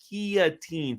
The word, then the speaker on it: guillotine: call him Guillotine because it's not a guillotine it's a guillotine folks anyway D I'm an what is happening I don't know we're correcting people how to pronounce guillotine well they call it a guillotin and it drives me [